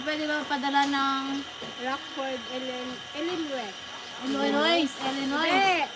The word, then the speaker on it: Illinois: Pwede ba padala ng Rockford, Illinois. Illinois? Hindi. Di ba po ang basa dyan, Illinois? Huh? I-search nyo mo sa Google. Illinois tayo ng Illinois. Iba yung pronunciation niyan.